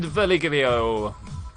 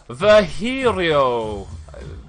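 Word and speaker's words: Virgilio: You look winded, Verligio. It's pronounced Verhirio. There's definitely an L there, man.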